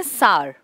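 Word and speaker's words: Tsar: इसका नाम के आगे यह लिखते हैं लिखते हैं लेकिन बोलते नहीं है इसको बोलते हैं सार एस ए आर करके इसको अपना उस अनवांटेड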